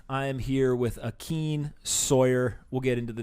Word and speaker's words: Sawyerr: Sawyerr spelled with two R's. Yep. Right? So Sawyerr.